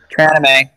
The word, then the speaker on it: Tranime: you on the spot, Tran Anime. I'm sorry. We're going to need more people like Tran Anime to... Tranime. What? We pronounce it wrong. It's Tranime. What'd I say? You said Tran anime.